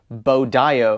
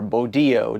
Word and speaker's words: BODIOO: Um, and then this charger is actually listed on Amazon as Bodio or Bodo, depending on how you want to uh uh pronounce that.